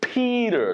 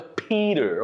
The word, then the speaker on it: Peter: So you pronounce it like a soft D sound. So it sounds like a Peter, okay?